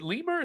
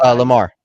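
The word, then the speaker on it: Limar: Apparently, is it Lemur? Is that how you say it? Is Lemur? Lamar. Lamar. Lamar.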